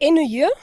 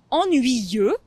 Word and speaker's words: ennuyeux: presque presque exactement ça mais je sais que c'est un mot assez difficile à prononcer même pour les gens qui parlent déjà très bien français c'est ennuyeux ennuyeux ennuyeuse ennuyeuse très bien et tu